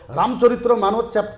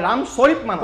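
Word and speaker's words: রামচরিতমানস: এই কথাটা আপনাদের জানিব রামচরিত্র মানস রামচরিত্র মানস চ্যাপ্টার নম্বর দুই চরিত্র মানস নয় রামচরিত মানস কপ দিয়ক না ভাই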